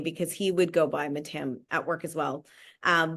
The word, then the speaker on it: Mattam: sahaj yeah absolutely so I say my name is mat but if you were in India in Kerala um better pronounced or or more appropriately pronounced would be matam but I grew up